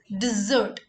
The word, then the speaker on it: dessert: This is dessert.